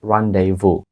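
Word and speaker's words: rendezvous: це довге страшне слово вимовляється як rранйву rранйву схоже до українського Рандеву тому що це воно і означає це Рандеву або зустріч отже rранйву дуже багато літер з даного слова не вимовляється там взагалі є літера зі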